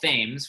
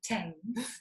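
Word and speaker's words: Thames: I like to call fames which is incorrect it's actually called the TS the TS because it's spelled like themes but it's not pronounced that way um but it cuts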